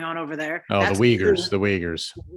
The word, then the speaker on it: Uyghurs: that's going on especially the side of the yugos muslims is going on over there oh the uyghurs the wagers yeah it's spelled like it's spelled like yeah name almost